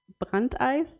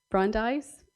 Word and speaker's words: Brandeis: So the idea goes back to Louis D. Brandeis, that is my very German pronunciation. Brandeis, okay.